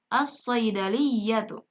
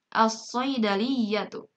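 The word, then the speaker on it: الصَّيْدَلِيَّةُ: As-saydaliyatu. Lihat, lamnya tidak dibaca jelas. Kemudian langsung dimasukkan pada huruf shad. As-saydaliyatu.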